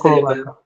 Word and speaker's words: co-worker: So where do you think you're going to mark this as in First syllable. co-worker?